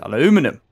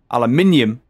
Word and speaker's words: aluminium: Aluminum. Aluminium. I hate it when we spell it aluminum. It's aluminium. Argon, chlorine, copper, iron, lead, nickel, uranium.